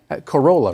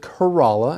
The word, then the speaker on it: Corolla: If I just saw this word printed, I would absolutely pronounce it that way. Corolla, right? Corolla. Yeah, that's what I thought as well, but I heard that the locals pronounce it Kerala, and so that's what we just heard in